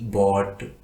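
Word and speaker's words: bought: इस प्रकार के और भी काफ़ी सारे एग्जाम्पल्स हैं, जैसे कि BOUGST बॉट, FOUGST फॉट, SOUGST shot, TAUGST टॉट।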